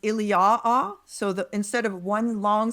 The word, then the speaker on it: Iliou: It's written Iliou proparoithen, so in front of Ilion, but that word Iliou has to be pronounced Iliaa.